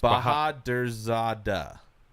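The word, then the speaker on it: Bahadurzada: Nope, you said it wrong too. No, it's Bahadrzada.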